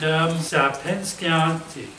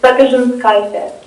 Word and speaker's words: Sapinskaitė: Okay, and Sapinskianti. I just butchered it there. I'm sorry. It's my Lithuanian last name because from my grandpa, he was from Lithuania. So I'm fully Eastern European, 25% Lithuanian. So it's Sapinskaitė.